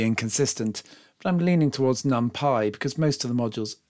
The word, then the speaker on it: NumPy: Americans will probably be inclined to pronounce it NumPy. It is, after all, called Python. Europeans, particularly perhaps those wretched Brits, tend to pronounce it NumPy to rhyme with lumpy.